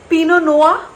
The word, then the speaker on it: Pinot Noir: It's called Pinot Noir, that's how you pronounce it।